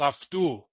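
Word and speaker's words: αὐτοῦ: Yes, the next word behind it is pronounced aftu. You see at the end, the two letters are omicron and ipsilon.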